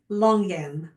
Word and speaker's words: longan: And that's how she pronounces it, longan, an emphasis on the G.